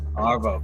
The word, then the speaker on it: ARVOW: Is it pronounced ARVOW? Yeah. ARVOW.